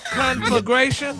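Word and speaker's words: conflagration: Just don't take the L out.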